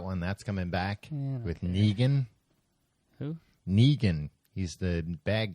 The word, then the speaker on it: Negan: That's coming back with Negan. Who? Negan. He's the bad guy. Big badgan. Not Megan.